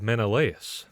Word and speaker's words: Menelaus: that uh pronunciation real quick uh how to pronounce menelaus of course so it starts here with a woman named helen wife of menelaus the king of sparta and daughter of zeus